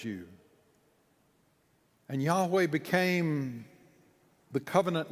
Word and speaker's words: Yahweh: word that is almost untranslatable he says we pronounce it yahweh god says in giving moses that hebrew verb